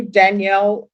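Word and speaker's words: Danyl: defense and are you Danielle? Yes, your honor. And how do you pronounce your first name? Because that's a different spelling. It's spelled D A N Y L. It is pronounced Daniel.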